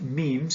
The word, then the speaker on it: meme: language this idea of memes pronounced memes similar to genes not the trousers of